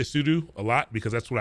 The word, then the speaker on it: sudo: has a pronunciation so i always thought it was pseudo and then i found out it's probably sudo makes sense makes a